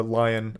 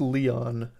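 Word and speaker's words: Lyon: apparently that was a lion yeah Arcane lion is what's credited for death Loop which is the other one whereas this one's Arcane Austin did do Youngblood it doesn't specify it's pronounced Leon oh my bad Jesus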